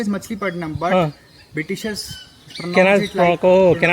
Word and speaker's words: Machilipatnam: Yeah, because So- they pronounce like that, na. Yeah. That's why it is written like Masulipatam.